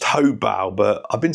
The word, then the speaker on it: Hobao: today this is the hyper SS truy by habo it's actually pronounced hobal but I've been saying habo for like years so we'll just continue with